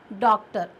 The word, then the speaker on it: डॉक्टर: जैसे डॉक्टर, ना तो डॉक्टर और ना डॉक्टर, क्या पढ़ते हैं हम उसको, डॉक्टर, अ का उच्चारण।